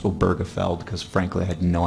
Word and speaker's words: Obergefell: sort of come to a consensus that it's pronounced oberfeld because frankly I had